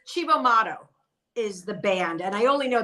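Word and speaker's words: Cibo Matto: I can't pronounce it. It's Chivo Mato is the band, and I only know that because I heard them say it.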